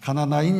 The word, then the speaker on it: 가나나인: 그나마 제자들 중에서 누가 봐도 열심히 있고 똑똑한 사람이 이제 맨 마지막에 그룹인 바로 가나안인이 아니라 가나안, 대부분 사람들이 가나안이라고 읽어요. 그런데 가나나인이에요. 가나나인 시몬과 가룟 유다입니다.